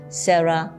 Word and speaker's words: CeraVe: It's a bit, some people say CeraVe Baby, some people say CeraVe Baby, some say CeraVe Baby. So I was told that the correct pronunciation is CeraVe Baby. Maybe sounds a little bit Korean.